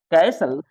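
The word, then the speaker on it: castle: है दुर्ग होता है कैसल तो कैसल में टी साइलेंट है कैसल ऑफेन ऑफेन में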